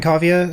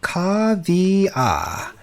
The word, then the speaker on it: Cavia: I'll say it slower. Cavia. C-A-V-I-A. Cavia. At least that's how I pronounce it.